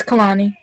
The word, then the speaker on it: Kalani: right just say yeah if it's kalani or kaladi or it's kalani but yeah you said